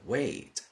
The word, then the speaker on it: wait: ¿A qué suena esa palabra? Wait. Esperar. Se pronuncia exactamente igual que el verbo esperar, pero fijaos que se escribe de forma totalmente distinta. Y tiene, evidentemente, diferente significado también.